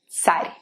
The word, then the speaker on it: царь: So the word tsar should be pronounced as царь.